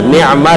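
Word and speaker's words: نعمة: Awas jangan salah baca ya, ni'mah dengan niqmah. Kalau pakai qaf itu niqmah, itu azab. Pakai ni'mah pakai ain.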